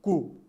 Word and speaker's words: coup: word be very careful it is not koop okay it is ku now pronounce with me again c-o-u-p ku once again please coup okay